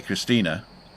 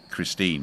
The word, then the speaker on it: Christine: even though I say Christina it's actually spelled the English way Christine but the Germans pronounced the E on the end there you go and